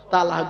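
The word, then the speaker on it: طلاق: একটা শব্দ বলে কি তালাক বলে না আ বাবা বলো না শব্দটা কিন্তু তালাক নয় শব্দটা তালাক নয় শব্দটা হলো তলাক কি বললাম তলাক ওর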